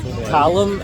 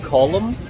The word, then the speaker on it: Callum: in his throat yeah every time I say my name to an American they repeat it as column Colum so it was literally like C.O.L.U.M (and he literally typed in to the keyboard C.O.L.U.M).